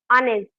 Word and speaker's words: honest: It actually start with H. He spelling कुठून start होते? एच पासून स्टार्ट होते. आणि हे जे एच असतं ना, ते सायलेंटली बोलायचं असतं. म्हणजे ते प्रोनाऊन्सच करायचं नाही. करायचं असतं सायलेंटली एकदम.